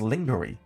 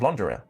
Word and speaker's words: lingerie: It says at 1 minute 35 pronounces a very common English word lingerie. Completely wrong and phonetically as lingery instead of lingerie.